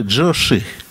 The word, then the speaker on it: Джучи: Но Джучи это опять-таки версия китайская, потому что у китайцев было другое произношение. Оказывается, его сына звали Джоши.